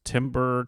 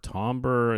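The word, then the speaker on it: timbre: in music um and the pronunciation of it goes all over the place it's Timber tomber you know um the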